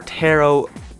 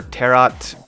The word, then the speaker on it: tarot: kind of curious about Taro cards they're kind of interesting I also don't know whether it's called Taro or terot or terat I'm pretty sure the t is silent though but you either way